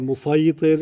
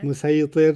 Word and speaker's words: مسيطر: Yeah, And he says, you said musaytir. And he says, Yeah. no, it's sad, but it's pronounced sin. yeah. Musaytir.